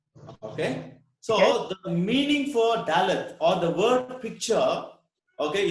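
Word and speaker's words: דלת: The English word D is the fourth letter of Hebrew, which is pronounced as Dalet.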